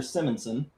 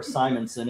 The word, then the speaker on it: Simonson: Star Slammers from Walter Simmonson, issue number one or Simonson if you want to pronounce it wrong.